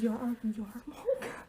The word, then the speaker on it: yarmulke: It's pronounced yarmulke. Oh my god, I'm so sorry. Okay. I know what that word is, but I've never seen it spelled. Neither have I. A yarmulke.